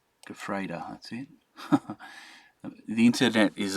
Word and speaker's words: Gefreiter: Gefreiter. Gefreiter, that's it. The internet is amazing. I did not spell that anything like it was.